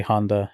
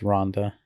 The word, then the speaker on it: Ronda: But yeah, people like, for example, Ronda Rousey, they'll say Honda Rousey, even though they know specifically it's Ronda. But if you never heard Ronda, they'll say Honda.